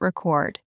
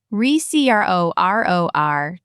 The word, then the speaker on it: record: And if you only remember one pair, make it record. Record is the thing. Recror is the action.